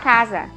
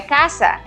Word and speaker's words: casa: português eu vou falar casa e tá errado na hora de pronunciar tá errado é caça não é casa então se eu antes